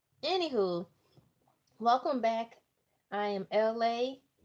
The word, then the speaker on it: Elay: I am LA, Elay, LA pronounced like the city.